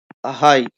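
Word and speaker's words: high: तो यहां भी हाय हाय में हाई। यहां पर जी साइलेंट है।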